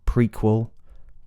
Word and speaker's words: prequel: the fleece vow so there are some that keep the evow such as prequel prefect precept and preempt all of those begin with with pre with e a long vow and but let's look